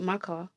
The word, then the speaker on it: Maka: I might pronounce it wrong. Is it Maka? Yeah, that's right. That's Yeah. the name, Mecca.